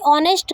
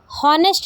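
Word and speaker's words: honest: यहाँ पर टू बी ऑनेस्ट का मीन है सच कहूँ तो। ध्यान रखना है कि इसे हम हॉनेस्ट नहीं पढ़ेंगे क्योंकि यहाँ पर एच साइलेंट होता है, इसलिए हम इसे ऑनेस्ट पढ़ेंगे।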